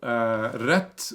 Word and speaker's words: rett: So rett, we spell that R-E-T-T. So you just say rett.